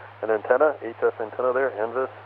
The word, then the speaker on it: NVIS: If you're getting ready to set up an antenna, HF antenna there, NVIS, or NEVIS, I guess sometimes it's pronounced, that sounds fantastic.